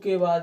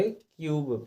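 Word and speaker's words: cube: में ई दिया है, तो हम इसको कुबे ना पढ़ करके क्यूब पढ़ेंगे। तो देखिए इस ई का हमें उच्चारण बिल्कुल भी नहीं करना है।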